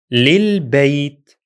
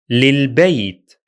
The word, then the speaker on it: للبيت: Third, للبيت. للبيت. Notice here that when using the preposition li, the hamza of al is dropped in writing as well as in pronunciation.